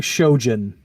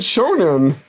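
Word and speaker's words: shōnen: what I was saying you kept saying shoan I'm sorry I meant Shonen yeah you kept you kept pronouncing it with a J I'm mispronouncing everything today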